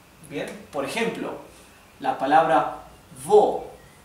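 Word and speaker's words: wo: como la v esto es V y se pronuncia como la v del español siempre bien por ejemplo la palabra vo vo significa dónde vo pueden ver que la la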